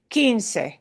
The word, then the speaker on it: quince: This is one of this little exceptions where the oo letter does not make the oo sound, okay? QUI. 15. 15. 15. Think that's really keen. Okay, 15. This quince thing is a Latin thing.